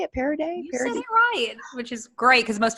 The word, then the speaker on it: Parady: with me is that how I say it parody which is great because most people mispronounce it so awesome job thank you I